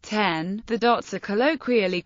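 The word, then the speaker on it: 点: As the Japanese word for dot is pronounced ten, the dots are colloquially called 10-10-10.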